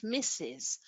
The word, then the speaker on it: Mr.: and Mrs. These abbreviations are pronounced as Mr.